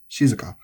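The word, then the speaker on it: 静か: So kirei, genki, shizuka. All of these have the accent on the first mora.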